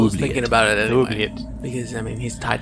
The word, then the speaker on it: oubliette: Unless you're in France, and then it's Oubliette. I looked this up. I thought, have we been mispronouncing it the whole episode? But the American pronunciation is oubliette.